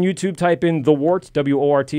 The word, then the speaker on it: Wort: type in The Wort, W-O-R-T. It's pronounced Wort, but we're going to keep saying Wort because people type in Wort and don't get us.